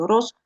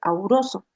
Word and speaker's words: auroso: De ahí que en la tradicional voy a decir óxido, el oro no se dice oroso, sino se dice auroso.